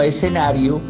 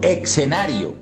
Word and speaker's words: escenario: Para finalizar, es barbarismo pronunciar el término escenario como si estuviera escrito con x diciendo escenario. Lo correcto es decir escenario y no escenario.